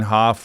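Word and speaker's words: Wim Hof: But what's the new breathing technique everybody's something Hoff or Wimhof breathing?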